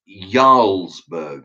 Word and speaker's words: Jarlsberg: Now, English Heart wrote to me today and said it's pronounced Jarlsberg with a Y, which he pronounced it with a Y, not a J.